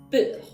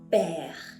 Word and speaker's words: père: Cuando vimos, por ejemplo, la palabra père, ¿okay?, no pronunciamos esa E como E, no dijimos peur, dijimos père, porque el segundo tilde,